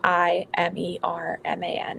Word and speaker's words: Imerman: And then we work in collaboration a lot with an amazing program called Imerman Angels, which is spelled I-M-E-R-M-A-N.